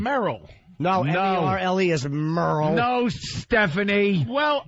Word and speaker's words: Merle: No, M-E-R-L-E is Merle.